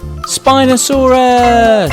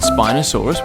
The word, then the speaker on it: Spinosaurus: let's learn all about spinosaurus how do you say that again spy no sub russ can you say it with me spy no saw russ do you know how